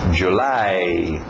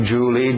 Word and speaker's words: July: final April mayi June July nada de Julie Julie é o nome próprio escrito de outro jeito July a o u